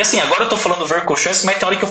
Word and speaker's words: Verkhoshansky: Verkhoshansky, ele foi o primeiro cara a começar a escrever sobre treinamento antiglicolítico.